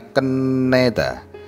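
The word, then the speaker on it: 끝내다: semua kenel ko yeyo ini cara bacanya keneda huruf mati tiet ini saat bertemu n keduanya dibaca dobel n dobel n keneda artinya menyelesaikan tata bahasa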